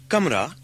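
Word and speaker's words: कमरा: But we don't have the k sound at the beginning of kamra, at the beginning of words in English. There should be no aspiration at all. It's more like the K in skin.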